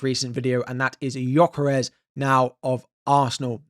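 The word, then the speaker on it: Gyökeres: in my most recent video, and that is Gyokeres now of Arsenal.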